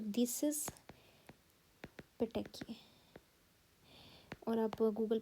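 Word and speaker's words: petechiae: PPE stands for, P stands for, सबसे पहले बनते हैं पेटेकिए, आई प्रोनाउंस इट लाइक दिस, पेटेकिए।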